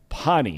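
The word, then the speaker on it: Pahhni: Pani is how you pronounce it.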